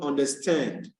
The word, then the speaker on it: understand: for the word beautiful the accent to be on stand from the word understand and the accent will